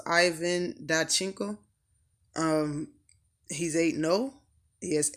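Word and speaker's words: Ivan Dychko: And I believe this man's name is pronounced Ivan Dachenko.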